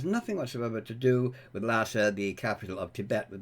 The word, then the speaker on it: Lhasa: the capital of tibet well that is spelled differently l-h-a-s-a but would be the same pronunciation but no no the goddess has nothing whatsoever to do with lassa the capital of tibet